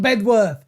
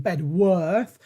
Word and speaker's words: Bedworth: He's saying, don't pronounce the W in Bedworth, but I'm going to.